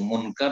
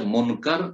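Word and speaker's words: منكر: এই যে জিজ্ঞাসাবাদ কবরে মাইয়াতকে উঠিয়ে, অহম মুনকার ও নাকির, আর তাদের নাম হচ্ছে, তারা দুইজন ফেরেশতা আসবে সেই হাদিস দ্বারা প্রমাণিত। তাদের দুইজনের নাম হচ্ছে মুনকার, একজনের নাম, এবং নাকির। শুদ্ধ নাম হচ্ছে মুনকার এবং নাকির, কিন্তু আমাদের দেশের লোকেরা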